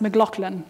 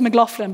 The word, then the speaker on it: McLaughlin: and by the way my last name is pronounced mlan I can just Al together now mlan my husband's family says mofin but they're wrong you know what can